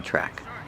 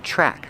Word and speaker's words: track: So some people are jogging on the track. Pronunciation track, the TR makes a chicken sound with the R together, chur, track. Use the short A sound like apple and black cat, track.